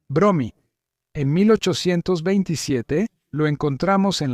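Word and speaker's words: Brommy: A partir de entonces escribió su nombre tal como lo pronunciaban los estadounidenses, Bromy.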